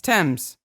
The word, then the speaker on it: Thames: here's here's the thing apparently if you're talking about the river meaning there's ness on the end it's thames thames without the s it's tame yes even though there's an h yes so i didn't know that i thought it was all just tim no because of the river